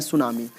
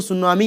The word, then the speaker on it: सुनामी: तो सुनामी एक जापानी शब्द है जो 2 शब्द सूज और नामी, टी साइलेंट रहता है, से बना हुआ है।